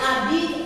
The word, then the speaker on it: habite: Elle habite à Pondichéry. So she lives in Pondicherry. Okay? So how will you frame this sentence into negative? Elle n'habite. So here we can see H muet. Okay? H silent.